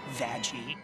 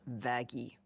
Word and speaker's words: Vaggie: the best thing ever vagi actually it's pronounced vagy no but it doesn't